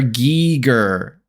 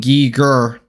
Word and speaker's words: Giger: Oh, HR geiger is pronounced HR gigger in English with a hard g sound and giger in his native German and Swiss German.